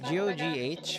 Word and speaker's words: Gogh: It's GOGH. Focus with your avatar. I pronounce it as Go, like Van Gogh.